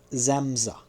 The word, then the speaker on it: Samsa: The hero of the Metamorphosis is Gregor Samsa, pronounced Zamza, who is the son